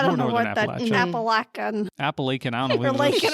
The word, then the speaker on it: Appalachia: I heard somebody from Pennsylvania pronounce it Appalackin. Appalackin. That's okay. What is that? It was wrong. It was wrong. But like, well, what the other is one was that? like Appalachian, which is closer. Yeah. And they were like, ask Google how to pronounce it. And it says Appalachian.